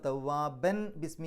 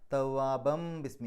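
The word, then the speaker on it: توابًا بسم: ബാഇൻ്റെ മുമ്പ് തെൻവീന് വന്നാൽ, അല്ലെങ്കിൽ തെൻവീന് ശേഷം ബ വന്നാൽ ആ തെൻവീനിലെ നൂനിൻ്റെ ശബ്ദത്തെ മീമിൻ്റെ ശബ്ദമാക്കി മാറ്റണം. അതിന് ഇഖ്ലാബ് എന്നാണ് പറയുക. അപ്പോൾ തവ്വാബൻ ബിസ്മി എന്നല്ല പറയുക, തവ്വാബം ബിസ്മി. അവിടെ തവ്വാബൻ എന്നുള്ളതിന് പകരം തവ്വാബം മീമിലേക്കാണ് പോവുക.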